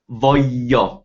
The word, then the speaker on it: voglio: Whereas voglio, you pick at the vo, then you pause, and then you have a strong y, voglio, voglio.